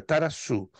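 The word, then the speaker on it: ταράσσω: tá só Desculpe estar a maneira como se translitera é R A SS que denota basicamente inquietação mas eu estou dando a vocês como se pronuncia taraçu este vocábulo grego encontrado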